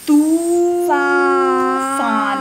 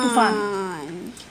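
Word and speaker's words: तूफ़ान: So ensure that when we pronounce the matras, we lay a stress or we exaggerate the pronunciation for the badi matras. Tufan. Excellent. So we say Ibn Battuta. Tu. We say Tufan, not Tufan.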